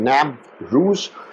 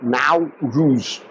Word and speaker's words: Navroz: It's called nav ruse or now ruse. Either way it can be pronounced.